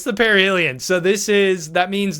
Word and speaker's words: perihelion: the year, which is called the perihelion. Parhelion. Yes. Yes. I'm bad at pronouncing words there. So yeah, it's the perihelion.